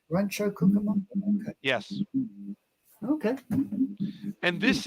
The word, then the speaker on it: Rancho Cucamonga: How would you pronounce that station? Rancho what? It's Rancho Cucamonga. Rancho Cucamonga.